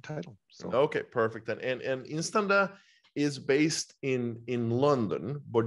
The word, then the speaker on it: INSTANDA: You are pronouncing it correctly. It is Instanda.